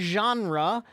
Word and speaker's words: genre: Sherry, the word genre, it comes from French. Okay, so we use the French pronunciation.